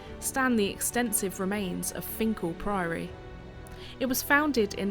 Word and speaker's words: Finchale: of the river going by the name of Finkel Priory although spelled like Finn Trail it's actually pronounced Finkel occupying the site as early as 1196 and